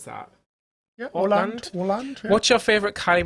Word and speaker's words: Åland: Is that how you pronounce that? Yeah, Åland.